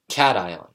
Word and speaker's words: cation: itself undergoing a change enzymes are protein catalysts cation positively charged ions such as na+ or CH 3 NH 3 plus pronounced I on cdk see sickle independent kinase